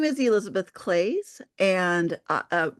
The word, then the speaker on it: Claes: my name is Elizabeth claze and uh my last name rhymes with glaze and I am an